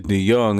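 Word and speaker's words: DeJong: His last name is DeYoung, and it got a J in it. You gotta strike him out. 1-2. That's because he got a J in his last name, but it's pronounced Young.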